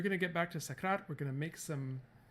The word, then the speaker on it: Sakrat: youtube welcome back we are working on the socrat family again the sakrat family say it properly cohen and we are